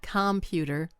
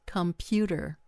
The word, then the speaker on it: computer: It's not computer, it's computer. Computer. So again, the wrong stress on a word can change the whole rhythm of the speech.